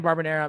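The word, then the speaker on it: Barberena: freeze that um brian barbanera man this guy he really does come to fight i like to say this name rhymes with marinara brian marinara crushed it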